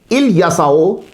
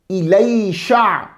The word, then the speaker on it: الیسع: آؤ گفتگو شروع کریں، بات ہو گئی۔ حضرت الیسع علیہ السلام، جب آپ تنہا پڑھیں گے تو